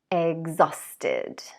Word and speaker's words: exhausted: Exhausted.